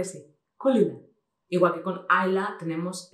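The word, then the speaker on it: Caol Ila: Es en el caso de Kaolila. Como Kaolila le pasa como le pasa a Ayla, ¿no? Que decimos Kaolila porque es lo que vemos en la etiqueta. Y es Kulila.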